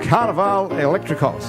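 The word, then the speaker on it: Carnivale Electricos: Their newest album is called Carnaval Electricos. Is that how you pronounce it?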